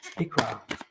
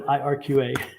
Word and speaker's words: Ikra: Ikra. Super. Instead of IRQA.